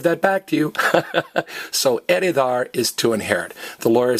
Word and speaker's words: heredar: So this H is silent. It's heredar, not heredar, and it's herencia, not herencia.